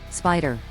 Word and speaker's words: SPDR: SPDR pronounced spider was the first US-listed ETF making it a pioneer in the field.